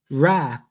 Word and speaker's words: rath: Then make the G hard in the gyre and gimbal, and pronounce wrath to rhyme with bath.